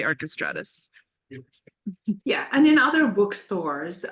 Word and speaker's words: Archestratus: link in the chat it's archestratus or it's however you want to pronounce it um but I say archestratus yeah and in other